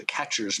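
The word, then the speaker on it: QuEChERS: extraction method called the catchers method and it's um it's abbreviated with a bunch of letters catchers is not spelled like a catcher's mitt but it's q-u-e-c-h-e-r-s and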